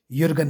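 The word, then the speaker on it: Jürgen: यरगल था जे साइलेंट है तो इसलिए युगन हेबर मास क्रिटिकल थ्योरी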